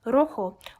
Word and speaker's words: rojo: native speaker it's quite noticeable in words such as rojo which is correctly pronounced rojo or liquido which is